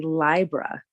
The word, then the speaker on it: Libra: we really broke down the correct correct pronunciation of Libra it would be Libra like a library or a librarian so I was like